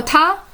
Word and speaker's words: 她: The female radical Ta means she or her.